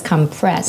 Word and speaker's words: compress: hot compresses the oh you can also use compress as a verb but it's pronounced as compressed yeah like push something down what about eyelid eyelid